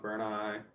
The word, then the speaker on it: Bernie: LOF I've been saying your name wrong for so long burn ey burn ey burn ey burn like fire I like Vision burn